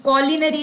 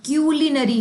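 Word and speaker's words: culinary: और एक कॉलिनरी नहीं है, क्यूलिनरी है, तो option number third will be my right answer.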